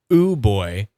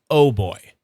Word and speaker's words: OooBoy: It's not pronounced oo boy. It's pronounced oh boy.